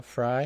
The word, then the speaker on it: Frey: robin fry so robin her last name is fry f-r-e-y pronounced uh fry spelled frey and they really uh